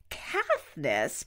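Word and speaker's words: Caithness: Ross men test Angus Katniss probably pronounced like Katniss Everdeen CA th n ESS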